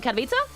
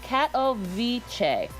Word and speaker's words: Katowice: I'm seeing in here that you're wrong on the pronunciation. What am I, on Katowice? Who is saying it? Katowice. Katowice.